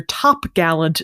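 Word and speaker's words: topgallant: sale you have your top Gallant sale typically pronounced tar gel toel toel it adds an R because apparently it could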